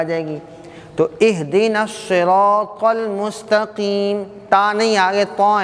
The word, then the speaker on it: الصراط: اہدنا الصراط. اب اس کو سرا نہیں پڑھنا بھائی، صاد ہے، صاد.